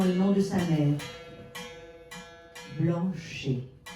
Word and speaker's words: Blanchet: Blanchet, à prononcer Blanchette, comme Payette.